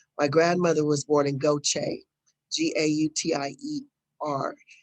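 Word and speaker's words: Gautier: grandmother was born in goache g-a-u-t-i-e-r it's the mississippi pronunciation of french goche uh my father and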